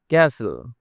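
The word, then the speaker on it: castle: no doubt no doubt ক্যাসেল এখানে টি silent মানে টি এর উচ্চারণ হবে না ক্যাসেল মানে দুর্গ আমি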